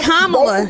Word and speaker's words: Kamala: But what Kamala and the honey, it's Kamala. Okay, well, I don't care how her name pronounced.